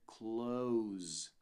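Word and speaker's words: clothes: exata mesma pronúncia tá você não tem que tentar procurar esse th aqui no meio tal ele não vai estar presente na pronúncia você vai dizer cloes para falar roupas então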